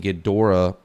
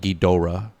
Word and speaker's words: Ghidorah: Ghidorah, but I think it's a hard O, like Ghidorah, not Ghidorah.